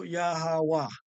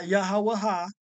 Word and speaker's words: Yahawah: So the Yah, the Ha, and the Wah, and the H is the Ha sound is also with the N, but it's still Yahawah. Okay? Not Yahawaha. That's not his name neither.